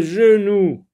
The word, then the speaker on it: genou: Le genou, G-E-N. Attention, on voit E-N, mais ça ne se prononce pas en, parce que E va avec la première syllabe, je, nous.